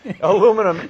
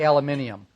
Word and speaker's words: aluminium: to say this right but it's aluminium no aluminum angle iron although iron I'm sure is not the right word since it's aluminum it's it's aluminum angle aluminum angle Alum angle right but it's really aluminium that's really what it's pronounced ask forever from